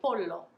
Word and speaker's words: pollo: make super clear that there is a double l there and i would encourage you to sound a bit silly by lingering on that l more and longer than it is comfortable for you because if you just